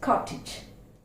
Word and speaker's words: cottage: Next one, again the same way, it's cottage. Cottage. It's not cottage. Here also, even though the sound, here also, even though the letter is A, it is pronounced E.